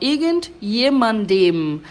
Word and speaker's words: irgendjemandem: E a gente vai ter até um em no final, irgendjemandem. Aí, para fazer essa pronúncia, você fecha os lábios e faz dem, irgendjemandem.